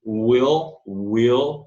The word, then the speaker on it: will: Will, aquele L gutural, né? Aquele L dark, chamado dark L.